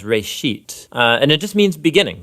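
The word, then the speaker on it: בראשית: it's called Genesis Genesis comes from a Hebrew word it's pronounced race sheet and it just means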